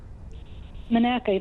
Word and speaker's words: Monaca: Is it Monaca? Monaca, that's correct.